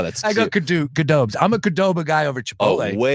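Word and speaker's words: Qdoba: Um, you say Kadoba. Kadoba. How do you say it? Gdoba. It's a Q.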